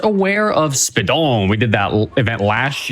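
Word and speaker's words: Speedons: Use !Speedruns, S-P-E-E-D-O-N-S. There's an S at the end of that. You're not supposed to pronounce it, but it's there.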